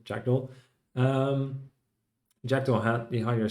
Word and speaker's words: jakkdl: Or I often told it rhymes with fractal, so jakkdl.